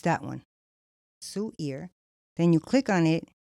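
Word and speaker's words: Suear: s u i mean it's spelled s u e a r Sue ear and you when you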